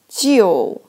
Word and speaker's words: 旧: So this character pronounced like 旧. So it pronounced like 旧, but the meaning is like old or ancient.